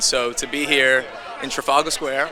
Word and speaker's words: Trafalgar Square: And so to be here in Trafalgar Square, right? That's how you say it? Yeah. Trafalgar Square, to promote and share this movie with the world is a blessing.